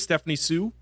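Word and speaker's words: Stephanie Hsu: the third one um I believe it's Stephanie Sue is how you pronounce it uh yes Stephanie Sue um are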